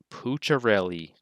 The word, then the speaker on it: Pucciarelli: is how you say his name it is pucharelli joe puccirelli he wants to be called pooch